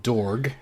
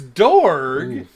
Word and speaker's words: Dorg: it's dorg though because pretty sure when i first when i first watched and i heard it pronounced i it sounded like torg to me which of course